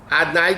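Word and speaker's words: אדני: Aleph Daled Nun Yud, Adnai, the way we pronounce it, equals 65.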